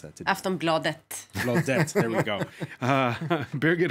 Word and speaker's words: Aftonbladet: Foreign editor Christopher Dickey is amongst us, as is Johanna Frundin, Paris correspondent for Swedish daily newspaper Aftonbladet. Welcome back. I mispronounced that. Aftonbladet.